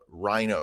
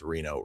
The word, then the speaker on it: Rino: Then you have Rino, or I wish it was Rino. I think it's pronounced Reno Monteforte, who was at Notre Dame and then went to Cal right after that.